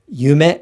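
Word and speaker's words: 夢: And dream, yume, this is 2 beats and also 2 syllables, yume. However, yume, this is also 2 syllables, but 4 beats.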